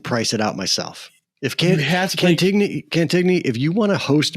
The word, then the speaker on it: Cantigny: Is it Cantini or Cantigny? It's Cantigny. Depends who you talk to. No, it's Cantigny. There's a G in it. G before N. I'm with you. Yeah, Cantigny. It's spelled that way.